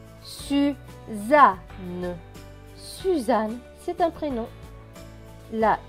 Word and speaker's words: Suzanne: Plus loin, S majuscule avec U, cela donne su. Z et A, za. Deux N qui se prononcent N et E, N et E, ne. Donc, ce mot va se prononcer su, za, ne.